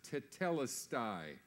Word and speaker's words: tetelestai: It's a single word, which is pronounced tetelestai.